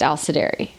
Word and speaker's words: Alisdairi: And so the real sound is just Alisdairi. It like slides like that.